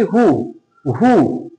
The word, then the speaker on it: who: এবারে দেখো WH ওয়ার্ডে কিন্তু আমরা একটা জিনিস দেখি যে একটা ওয়ার্ড আছে যে ওয়ার্ডটা WHO WHO, এইটাই শুধুমাত্র অরিজিনাল আমরা উচ্চারণ করে থাকি হু হু, কে বা কারা, এইটাই শুধু আমাদের মানে সঠিক উচ্চারণটা আমরা করে থাকি।